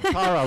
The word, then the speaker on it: Tara: Tara rhymes with tiara.